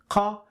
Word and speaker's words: ق: Now I want you to observe the position of my tongue pronouncing the qa and ka.